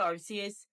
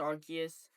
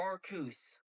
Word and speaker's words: Arceus: See, it's not Arus. Following the pronunciation, I'm going to say this right now. It's pronounced Archus. Following the pronunciation of the Arc phone is either Archus or Ar or Arcus.